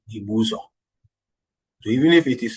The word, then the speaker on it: Ibusa: now and resides to Ibusa but still the pronunciation remains the original name Ibuza.